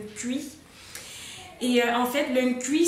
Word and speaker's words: Nkui: Je ne sais pas si c'est comme ça que ça se prononce, mais c'est bien le Nkui ou bien le Nkui pour ceux qui prononcent le N. Mais sinon, je sais qu'en africain, on ne prononce pas souvent les consonnes devant d'autres consonnes. Donc c'est le Nkui.